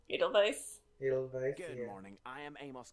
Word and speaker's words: Edelweiss: The W probably sounds like a V. Edelweiss.